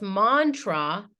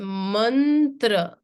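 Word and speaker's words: मन्त्र: write this Mantra right it's not pronounced Mantra it's a manra and again um you're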